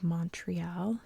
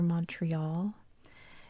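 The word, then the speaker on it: Montréal: city here we saved Montreal or Montreal it's actually pronounced the t is silent because it stands for mountain mountain is mole in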